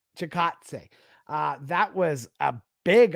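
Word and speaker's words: Chikadze: chickadees fight last uh why do i always say that about them i always used to pronounce it like that until i figured out how to pronounce it yeah yeah chicatse uh that was a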